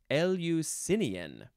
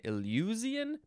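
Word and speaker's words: Eleusinian: how you say it capital e l euu s i n i a n nope I said it wrong linian I don't know how I missed the uh the emphasis there linian that's very different from what I was saying I was saying uian nah nah linian adjective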